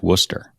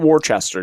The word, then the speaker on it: Worcester: uh if you're from out of town it's pronounced Worcester it is Worcester not Worchester just to just to be clear right because